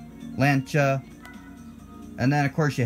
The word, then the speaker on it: Lancia: lent lancha I'm sorry it's lancha two syllables not three lancha and then of course